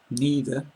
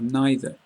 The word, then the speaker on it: neither: song which dis because there are different ways to pronounce these words and the different ways are both acceptable so you can say e or either neither or neither if you look at the